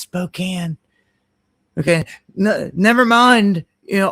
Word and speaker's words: Spokane: got all this going on when I come in the comments section and say it's pronounced Spokane.